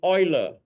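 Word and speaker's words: Euler: me why this is the EU is Oiler anyone any German descendant don't be embarrassed because it affects me a lot my name is so when it's Oiler it pronounced as OE right okay help me clarify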